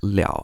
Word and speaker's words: 了: But for now, just know that sometimes l can be pronounced like liao and means something like this.